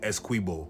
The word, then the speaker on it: Essequibo: So before sunrise one morning, he headed out near the Essequibo River, or we just pronounce it Essequibo.